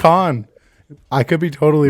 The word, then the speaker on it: Cannes: So they edited in I think it's Con. Is it Con? I don't think you pronounce the S.